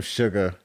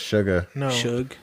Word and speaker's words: Suga: real name though yeah his name is it's suga oh i thought it was sugar you just pronounce it sh you know what they have